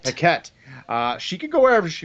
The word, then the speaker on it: Paquette: Yeah, Paquette. Paquette.